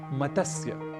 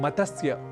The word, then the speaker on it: मत्स्य: अक्सर हम इस शब्द का गलत उच्चारण कर बैठते हैं और कहते हैं मतस्य, मतस्य, पालन, इस तरीके से कुछ हम शब्द करते हैं। मत्स्य, केंद्र, इस तरीके से कई अशुद्ध उच्चारण हम